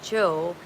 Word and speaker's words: Gio: It's pronounced Joe in Italian.